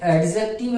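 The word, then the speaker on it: adjective: जी हाँ, इसे हम क्या पढ़े, लिखते एडजेक्टिव है लेकिन पढ़ेंगे एडजेक्टिव, क्योंकि डी यहां पर क्या है, साइलेंट है।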